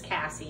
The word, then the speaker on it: Cassie: i might have just kept saying casey casey casey and i watched a video and it's cassie so i apologize corrections